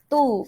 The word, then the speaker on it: to: Tu, bacanya tu ya, bukan to. Jadi tu.